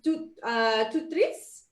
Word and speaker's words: TOOTRiS: So the TOOTRiS word is from, it's a French word, and it's pronounced TOOTRiS.